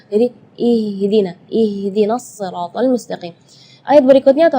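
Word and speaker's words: اهدنا: ketika membaca ihdiniratal mustaqim baca haknya keluarnya dari Dada ya i i itu tidak boleh itu keluarnya dari dada sedangkan makhraj huruf ha itu adalah dari tenggorokan jadi Keluarnya tipis karena ha itu eh termasuk huruf di antara 28 huruf hijaiah yang paling lemah adalah huruf ha maka kita jangan berlebihan supaya huruf ha itu jelas jadi kita ih ih gitu enggak jadi ihdina ihdinatal mustaqim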